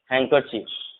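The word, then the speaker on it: handkerchief: और यहाँ पर जो है हमने देखा कि एन के बाद अगर डी होगा तो भी डी साइलेंट होगा, या डी के बाद एन होगा तो भी इस सेंस में डी साइलेंट होता है, ठीक है।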